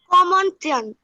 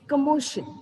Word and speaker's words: commotion: Very good, spelling आपने correct कहा है, बट आपने जो प्रोनाउंसिएशन कहा that was wrong. It's कमोशन, ठीक है, इट्स कमोशन नॉट कमोंटन, ठीक।